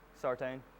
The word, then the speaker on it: Sartain: Sartain.